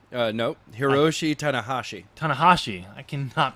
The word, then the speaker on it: Hiroshi Tanahashi: So the winner of that match, whoever's going to be in the finals against Tashihaki No, Hiroshi Tanahashi. Tanahashi. I cannot pronounce Japanese names.